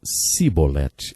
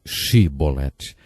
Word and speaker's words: Shibolete: Eles não conseguiam pronunciar o som CH, e por isso diziam Sibolete, ao invés de Shibolete.